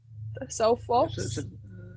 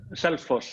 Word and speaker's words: Selfoss: There was that one at Selfoss. How do you say it? Selfoss. Selfoss, yeah.